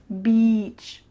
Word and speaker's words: beach: you a lot, but make sure that when you pronounce it, you say E, beach.